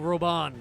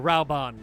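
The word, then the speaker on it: Raubahn: from the flame general robon aldin or raoban it got pronounced both ways we would gladly lay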